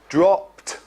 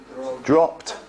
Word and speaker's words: dropped: and then decreased yeah so again we've got dropped dropped and it's the same as like stopped okay we say stopped not stopped yeah stopped okay and